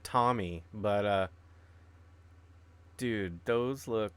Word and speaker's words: Tomy: They're made by Tomy. Tomei. I always pronounce that Tommy, but dude, those look like those look.